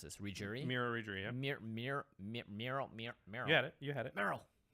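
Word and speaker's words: Merrow: I never know how to pronounce this. Regery? Mirror Regery, yeah. Marrow.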